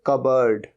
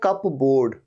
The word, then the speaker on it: cupboard: और या फिर एक वर्ड और यूज होता है इसके लिए, कबर्ड, कबर्ड, लेकिन स्पेलिंग क्या होती है, CUPBOARD। तो लगता तो ऐसे कप बोर्ड, कप बोर्ड नहीं, ये होता है कबर्ड।